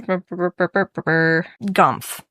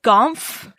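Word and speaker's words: Gonff: And he has a companion whose name is Gf. His name is Gf. It's G O N FFF. Gf.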